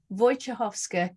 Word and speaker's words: Wojciechowska: so I'll tell you my name is voychehovska and um I'm here today